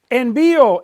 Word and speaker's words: envío: Envío, envías, envía, envían, all have an accent on the I.